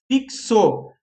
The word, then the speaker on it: fixo: Então, olha lá, fixo. Fixo, 4 letras, erra a quantidade de letras a gente não erra, mas se tu pensar que é f, i, ks, olha ali o x, 2 sons, né?